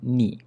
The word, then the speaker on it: ni: common for us to shorten ini to become ni instead. Okay, so we omit the first I, okay, the first E syllable. So it becomes ni.